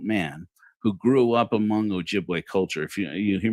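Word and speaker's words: Ojibwe: as an adult man who grew up among Ojiway culture. If you you hear me say Ojiway, Ojiway is the original are the people who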